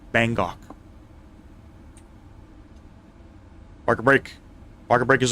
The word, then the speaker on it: Bangkok: It's Bangok. I don't know why I keep saying Bangkok. It's pronounced Bangkok.